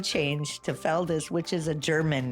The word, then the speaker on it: Feldes: And It's Feldes, but I'm proud of my culture, my background. I'm a biracial Latina woman. So I love that. when my name changed to Feldes, which is a German name, by the way, Oh, wow.